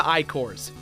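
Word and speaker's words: Ichor: Let's start out with the Trapple King and the Icors. Yes, it's pronounced Trapple and Icor, even the game tells you this.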